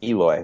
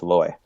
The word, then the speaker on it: Eloy: for the White Sox everybody just has Eloy that's not how you say it it's alloy but during media today